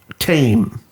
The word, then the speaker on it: Thame: a town called tim tame spelled like thames without the s yeah it's thames without